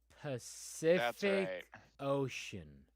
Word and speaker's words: Pacific Ocean: It's 2 words, but you pronounce C 3 different ways in Pacific Ocean. Pacific Ocean.